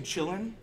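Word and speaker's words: Kylin: formerly LXDE that I'm personally working on Lubuntu chillin that's how it's pronounced for Chinese users would ensue Monta and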